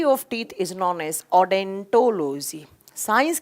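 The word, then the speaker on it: odontology: ओ यहाँ साइलेंट रहता है, जब आप प्रोनाउंस करते हैं तो उसको डेंटोलॉजी नाम से प्रोनाउंस करते हैं।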